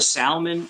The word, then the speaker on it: salmon: oh you put a salmon on the it's a cedar plank a salmon a salmon not salmon salmon it's salmon perfect conversation for tonight don't don't pronounce it l don't pronounce no salmon